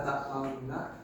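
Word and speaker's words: تأمنّا: Jadi itu pada lafaz la ta'manna dibacanya la ta'manna. Bibir atasnya monyong dan yang bawah juga monyong tapi tidak terlalu monyong.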